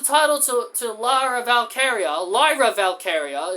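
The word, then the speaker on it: Lyra Valkyria: to to lra valkaria Lyra valkaria is how they say her name I keep calling her I kept calling her Lara Valkyrie like you know TAA Valkyrie so and she's only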